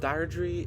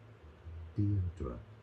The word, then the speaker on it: Deirdre: But with Diatry, I don't know how to say it.